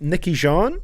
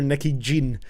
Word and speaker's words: Niki Jean: sometimes and the uh I believe Niki Jean you say it like that like why clef Jean I was calling her Nicki Jin before but uh whichever way